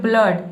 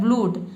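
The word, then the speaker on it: blood: देखिए यहाँ पे ब्लड मतलब कि डबल ओ को हम अ पढ़ रहे हैं, ठीक है। यहाँ पे ऊ, अगर ऊ पढ़ते तो ये हो जाता है ब्लूड, लेकिन इसको हम पढ़ते हैं ब्लड।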